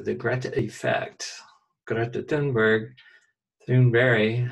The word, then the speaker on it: Thunberg: Greta Thunberg, Thunberg, I guess as she pronounces it, more or less, the